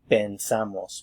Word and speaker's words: pensamos: And of course this affects the pronunciation because the sound here is e. Pensamos, pensamos.